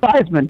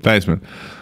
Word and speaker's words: Theismann: Theismann? How do you say his name? Joe. Yeah, Theismann. Theismann.